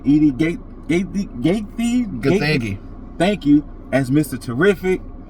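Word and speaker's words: Edi Gathegi: Edie Gaethje.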